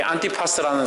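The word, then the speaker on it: Ἀντιπᾶς: 안디바는 이 원어 발음으로 안티파스입니다. 안티파스. 이 안티파스라는 사람이 믿음을 지키다가 순교를 합니다.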